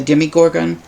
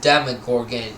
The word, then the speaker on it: Demogorgon: delay are you still wanting to do the demigorgon um is pronounced demogorgon even though it's demogorgon okay it's a thing